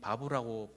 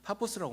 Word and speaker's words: 파포스: 제가이 바보라고 불리우는 발음이 파포스라고 말씀을 드렸죠.